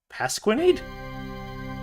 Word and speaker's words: Pasquinade: This this person's name is Pasqurenade. Pasquinade. Yep, that's how it's spelled. P A S Q U I N A D E.